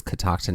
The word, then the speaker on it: Catoctin: it took us a while to even like pronounce it correctly right until we heard a local tell us it was catoctin mountain later did we realize right that this